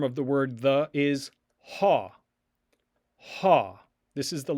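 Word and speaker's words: ὁ: Another form of the word the is ha.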